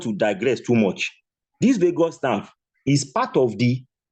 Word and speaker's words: vagus: The nerve is called vagus nerve. Vagus. Let me spell it.